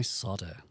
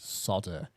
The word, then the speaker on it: solder: It's um Where's my solder? Does anyone Can anyone like 100 points help me understand why the Americans pronounce it solder when it's solder?